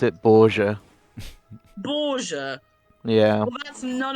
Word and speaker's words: Borges: It's pronounced Borges. Thank you, Brad. That's really helpful. Borges. I don't have a single attack. I pronounce it Borgia.